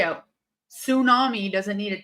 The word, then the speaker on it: tsunami: Tsunami. So it is a tsunami. It's a tsunami. So what the fuck did we need a silent T for?